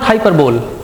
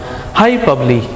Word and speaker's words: hyperbole: next one is hyperbole not hyperbole high probably be pronounced as high public high probably see the